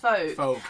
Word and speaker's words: FOAC: with the acronym and then said what about folk theater? Oh I see. So it's pronounced folk.